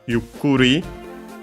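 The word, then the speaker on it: ゆっくり: Uh first we have yukuri. Uh one of those onomatopoeias ending in ri. Luckily uh when that's the case the accent the accent is always before ri itself. Yukuri.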